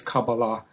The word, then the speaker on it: Kabbalah: Uh the the the modern Hebrew pronunciation is Cababala and that's that's the one I'm going to use but the pronunciation you're using Sylvia is is perfectly fine as well.